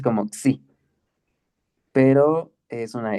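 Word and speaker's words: ξ: Sí, tú lo pronuncias como xi, pero es una X.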